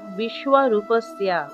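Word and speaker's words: বিশ্বরূপস্য: উচ্চারণ হবে তারপর দেখুন বিশ্ব রূপস্য আছে এর শুদ্ধ সংস্কৃত উচ্চারণ বিশ্ব রূপস্থিয়া অর্থাৎ দেখুন এখানে তালব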